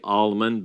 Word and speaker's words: almond: of L in there a lot of people like to ignore that L anyway uh so there